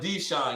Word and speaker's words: Dishon: is my first name deshawn is my middle name bro bruh but mine just spelled a little different than yours and probably pronounced a little bit different mine is dishon yours is probably deshawn but uh dakshan appreciate